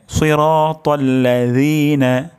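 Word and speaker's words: صِرَاطَ الَّذِينَ: গোড়া সামনের দাঁতের আগার সাথে লাগবে হ্যাঁ তাহলে সিরাতাল্লাজিনা সিরাতাল্লাজিনা জিনা ভুল উচ্চারণ সিরাতাল্লাজিনা তারপর শব্দটি হলো আন আন হামজাটি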